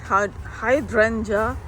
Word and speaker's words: hydrangea: the hydrangea hydrant how do you say that hydrangea hydrangea hydrangea lasting beauty two gallon pot this